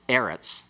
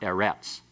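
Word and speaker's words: אֶרֶץ: Well, like in this, for example, in this situation, on ha'aretz, it's a segolate noun that is always accented on the next to the last syllable. It's eretz, not eretz.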